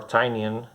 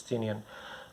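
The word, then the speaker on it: Tynion: by james tinian or tanyan uh i i heard someone pronouncing his name i don't remember if it was tiny and artenian i think it's tinian the fourth where there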